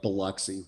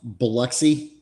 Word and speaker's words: Biloxi: Yes, which is your D'Iberville, Mississippi, which is it's a bedroom community of Biloxi, where Keesler Air Force Base is at.